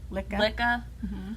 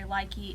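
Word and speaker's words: Lykke: We've been using they pronounce it Licka, or some people say likey. It's however you want to pronounce it, really.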